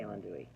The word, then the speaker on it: andouille: I say andouille.